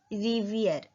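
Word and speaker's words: rivière: अ रिवर, रिवर को बोलते हैं रिवियर, री वी और ई पे ग्राव एक्सेंट और उसको बोलेंगे ईयर, रिवियर, तो युन रिवियर।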